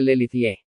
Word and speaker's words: Les Luthiers: ¿Y quién o quiénes son Les Luthiers? Pronúnciese Lelithie.